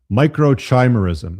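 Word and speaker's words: microchimerism: I'm got to pronounce it right for you guys. Microchimemerism.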